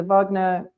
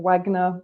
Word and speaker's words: Wagner: them now you'll see the Vagner or Wagner whichever pronunciation you want um group fighting uh